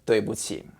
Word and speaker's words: 对: It's spelled D-U-I. The D sounds like in English D, duh. And the UI is actually pretty easy too. It sounds like in English way, like the word this way, that way.